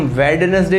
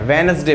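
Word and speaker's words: Wednesday: वेडनेसडे, उसे हम वेडनेसडे नहीं बोलते हैं, वेनसडे बोलते हैं, बुधवार।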